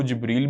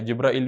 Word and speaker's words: جبرائیل: اس کے کئی تلفظ ہیں اس لفظ کے. اس کو جبریل بھی پڑھا جاتا ہے، جبرائیل بھی پڑھا جاتا ہے.